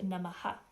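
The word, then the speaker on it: नमः: And that dot under the H is pronounced Namaha. So when that visarga or that dot, what is represented as the dot under the H, happens at the end of a line, you re-articulate the vowel before.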